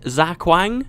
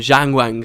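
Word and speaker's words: Xaquang: this the other day he said Zak Wang Zak Wang Skyway I always said it in the original uh factions campaign um Jang Wang Skyway I don't know maybe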